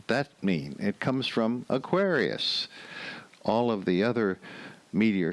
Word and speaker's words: Aquarius: like Gemini but Aquarius going from Aquarius where the accent is on the second syllable to the awkwards accent on the first syllable that's a little bit